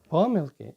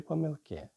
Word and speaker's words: помилки: Ми з вами постійно перевіряємо учнівські роботи і знаходимо там помилки чи помилки. В слові помилка в однині наголос можна і таким чином, і таким чином поставити. А от коли переходимо до множини, то тільки помилки.